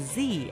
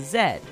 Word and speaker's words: Z: the united states is the only english-speaking country that pronounces z as z as opposed to zed like the british now you can tell